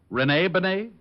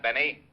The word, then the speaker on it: Benet: named Benet auto accident Renee Benet yeah I guess that's the way you pronounce it you see Otis your Mallet head you were wrong it's pronounced Benet not Benny that idiot was calling